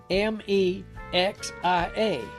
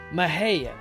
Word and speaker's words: Mexia: the word is spelt m-e-x-i-a and therefore should be said out loud like mexia but that ain't the way it's done down here in texas it's pronounced mahaya that way if a